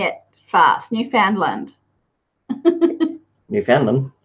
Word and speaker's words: Newfoundland: Newfoundland. Newfoundland? Newfoundland.